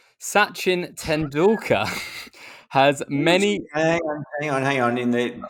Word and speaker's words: Sachin: Sachin Tendulkar has many.